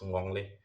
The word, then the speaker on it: ngongle: The fifth one is um, um, and you can hear this sound in English with in certain words like sing. In Dagbani, example word is ngongle.